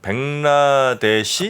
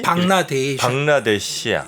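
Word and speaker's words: বাংলাদেশ: 그러니까 그쪽 발음은 벵라데시, 방라데시야.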